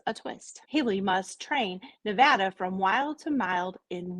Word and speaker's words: Nevada: called saving Nevada I used to call it Nevada but I was corrected by a person who actually lived there and they said it's not pronounced Nevada it's pronounced Nevada so just that little tidbit of information for